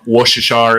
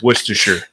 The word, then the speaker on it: Worcestershire: six or seven uh washershire is not the correct correct way to say it it's Worcestershire oh it is all right